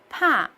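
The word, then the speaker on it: 怕: These two represents totally the different things. Ba means father. and pa means afraid. So everyone must pay attention to pronounce these well.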